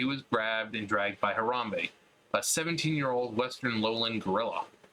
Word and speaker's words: Harambe: the gorilla enclosure at the Cincinnati Zoo and Botanical Garden, where he was grabbed and dragged by Harambe, a 17-year-old Western lowland gorilla.